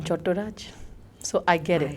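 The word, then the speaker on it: Chattoraj: Oh, you're not Chattopadhyay? No, I'm Chotturaj.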